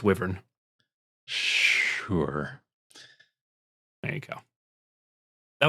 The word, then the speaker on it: wyvern: I looked up the etymology, and the etymology supports it being pronounced wyvern, but I hate it, so I'm evolving the language, and it's wyvern.